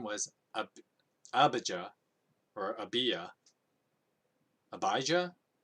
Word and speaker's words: Abijah: Now his mother's name was Abijah, or Abijah. Abijah? I know a lot of people pronounce it Abijah, but I think it's actually pronounced Abiah.